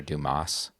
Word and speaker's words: Dumas: a secret society of oh the S is silent sorry it actually is cuz